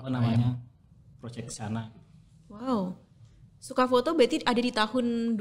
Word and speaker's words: Soca: Tulisannya juga soca sebenarnya, tapi Sama. kita bacanya suka. Iya, karena di double O kan. Double O jadi Suka.